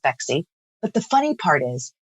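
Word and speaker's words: Phexxi: it inhospitable to semen so fexi p-h-e-xxi is because the pH is the mechanism of action and then the double X chromosome is for women and it doesn't hurt that it rhymes with sexy so we love the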